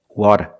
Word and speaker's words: water: Water, water, water.